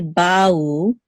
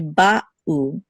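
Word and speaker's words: בָּאוּ: We don't want to say ba'u, we want to say ba'u. There should be a distinct pause between the two syllables, ba'u, not ba'u. They should not flow together, the two syllables. They should be distinct, ba'u.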